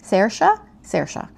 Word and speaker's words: Saoirse: I had this memorized, how to pronounce this beautiful Irish name. Saoirse by Charlene Hooterbeis is out February 24th.